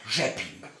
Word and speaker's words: Rzepin: RZ, ja, RZ ist nicht wie bei uns Herz, sondern RZ, das ist wie das J von Jacqueline. Ja, spricht man wie J aus, ja, Jacqueline. Und Sie sagen deshalb bitte immer Jeppin.